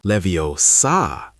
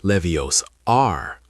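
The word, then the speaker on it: Leviosa: She once told Ron that it is when guardium levio sa and not levios are which changed everything for him.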